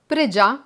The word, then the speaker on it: Pregià: uno dei miei colori preferiti per questo filato preg già con l'accento sulla a è il filato che mixa